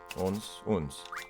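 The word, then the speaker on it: onze: Unze. Uns. That's right. You don't pronounce the E.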